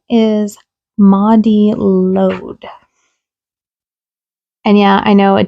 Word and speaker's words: Mari Lwyd: Her name is Mari Lwyd. And yeah, I know it doesn't look like it's pronounced that way, but it has a pronunciation in here, so yay!